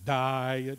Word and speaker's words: diet: Diet. That is a 2-syllable word now. 1 word, 2 syllables.